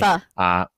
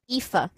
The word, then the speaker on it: Aoife: Some folks that we have, Kim and I have played with Aoife Wilson. I can never pronounce her name. I always worry. Aoife. Like Tifa. Yeah. Aoife. But without the T.